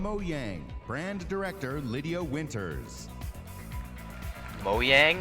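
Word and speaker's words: Mojang: Brand director Lydia Winters moyang I think that's how it's Swedish actually pronounced in Swedish yeah moang really summer never heard that way will be able to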